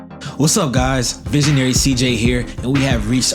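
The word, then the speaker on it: Ceej: So please make sure you're following me on all platforms at Visionary CJ, and CJ is spelled C-E-E-J.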